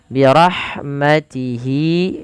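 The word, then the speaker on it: برحمته: Wallahu yakhtassu birahha, di lafal ha alirkan, birahmatihi, hati-hati jangan baca dengan huruf ha besar, dengan birahmatihi, tapi birahmatihi.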